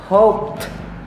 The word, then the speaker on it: hoped: Hoped.